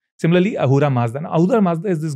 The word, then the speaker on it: Ahura Mazda: story begins from there, because it's actually Asura Mazda, because they don't have the word. As I said, Sindhu becomes Hindu. Mm. The name comes from Persia, because the river Sindhu, they could not pronounce the S, so they changed it to H.